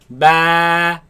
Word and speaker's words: با: Ba. با Ba. با Ba. با Now this letter of course comes from the lips. Do not suck the lips in. Ba, ba, no. Keep the lips normal. Ba, ba, ba, ba, ba.